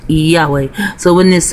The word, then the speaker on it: Yahweh: Earth it is a bastard language it is pronounced Yahweh so when his name be Yahweh H what